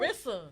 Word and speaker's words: Rissa: it Rizza? Did I say it right? Rissa.